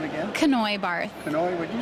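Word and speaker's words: Kanoe: your first name again canoy bar canoy would did you spell that k a n o e it's kind of like canoe but with a K okay and you're related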